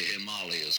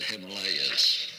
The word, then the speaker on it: Himalayas: somebody from asia the other day because i pronounced the himalayas correctly well i learned too from poetry somewhere when i was very young i said himalayas that's wrong now this this one oh wait